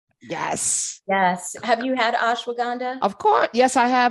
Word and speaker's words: ashwagandha: So ASH, ash, WAG, you wag, and AND, ha, HA, ha ha.